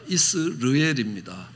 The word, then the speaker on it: 이스르엘: 이스라엘이 아니라 이스르엘입니다. 발음은 비슷하지만 뜻은 전혀 다릅니다.